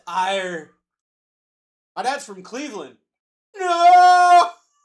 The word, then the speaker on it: Erie: No, laddie boy. It's pronounced ire.